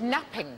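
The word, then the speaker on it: knapping: No, but you're right, it begins with a silent K. When we made early tools, what do we make them out of? Flint napping.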